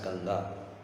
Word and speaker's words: Ganga: This is called as Ganges, but in India we pronounce it as Ganga.